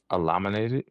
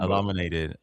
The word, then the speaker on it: eliminated: the what's the way to say it elaminated like I mean tomato tomato whatever whatever flows your eliminated elamin elaminated eliminated I'm not going to